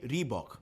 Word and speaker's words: Reebok: इस नाम को रखा गया था साउथ अफ्रीकन एंटीलोप के ऊपर, जिसकी स्पेलिंग है RHEBOK, रीबॉक। सो यहां से जर्नी शुरू हुई रीबॉक की एज अ ब्रांड।